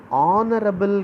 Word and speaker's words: honorable: Uncle a, honorable guest. So though the word honorable has H is silent here, so it produces R sound, and then M, and then U, turn.